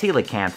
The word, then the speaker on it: coelacanth: deep-sea King coelacanth and yes apparently it is pronounced coelacanth somebody in my last video pointed that out